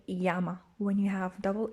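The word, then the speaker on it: llama: don't know uh but the double l in spanish is pronounced ya it's called a ye and it's pronounced like a y ya so we don't say lama we say yama when you have double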